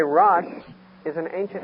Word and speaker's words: Rosh: The word chief in the Hebrew is Rosh. We would spell it, if we put it in English characters, R-O-S-H, Rosh.